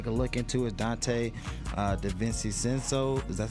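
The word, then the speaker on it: DiVincenzo: lines another guy can look into it Dante that Vincey sense though cuz that's how you pronounce his name 37 is too cheap one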